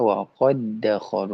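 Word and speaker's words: وقد دخلوا: Waqadakolu dibacanya waqadakolu. Makanya ee apa namanya? Idgham itu bisa diartikan dengan memasukkan atau mentasdidkan. Nah, setiap idgham masih dia tasdid ya. Waqadakolu tapi dibacanya waqadakolu disatukan.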